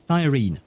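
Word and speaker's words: Cyrene: Ah so she says Sirene very well in that case I shall pronounce it Sirene.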